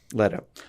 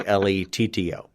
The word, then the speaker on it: Leto: Is it Leto or Leto? Leto. Sorry, it's been a minute, and I knew something was off for me, and it's I couldn't remember how that. I say his name every week on the show. Yeah, it's every time I think it has not been a minute. Every time I think his name should be Letto for it to be Leto, but your excuses fail.